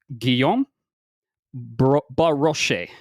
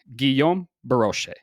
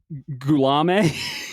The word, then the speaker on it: Guillaume Baroche: want to know, but it's pronounced Guillaume Baroche. Guillaume Baroche. Okay. I think I said Goulame or some shit like that.